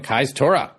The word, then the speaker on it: Kajstura: Kajstura.